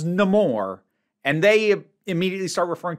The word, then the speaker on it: Namor: had been mispronounced like they first find out about him when he introduces himself as no more and they immediately start referring to him as neymore I don't know if